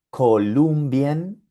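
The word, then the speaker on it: Kolumbien: Columbien tiene tres sílabas. Columbien. Y la combinación IE se encuentra en la tercera sílaba. Primera sílaba co, segunda sílaba lum, tercera y última sílaba bien. La combinación IE está en la última sílaba. Como está en la última sílaba, el sonido que produce es IE.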